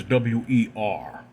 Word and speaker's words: Wer: it's called a weir pronunciation of it is wer which is very interesting but it's kind of